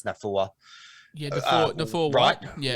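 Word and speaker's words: Naufahu: It's like, I think his first name's either Nathaniel. They call him Nathaniel, but I think it's Nafua.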